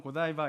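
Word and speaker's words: Godiva: 우리는 이제 초콜릿 중에 고디바 초콜릿 아시나요 예 그 고디바 초콜릿이 여기서 유래된 그런거든 우리는 프랑스 발음을 하면 고디바고 영어 발음은 고다이바 이렇게 되는데 그 여인은 레이디 고다이바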